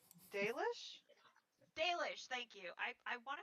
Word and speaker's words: Dalish: Dalish?